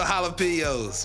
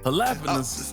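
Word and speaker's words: jalapeño: you mean what a jalap what is that you don't pronounce the J halap it's like lasagna you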